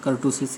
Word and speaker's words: kurtosis: इसको कुछ लोग kurtosis कहते हैं और कर्टोसिस भी कुछ लोग कहते हैं। सही प्रोनाउंसिएशन इसका कर्टोसिस ही है, ठीक है।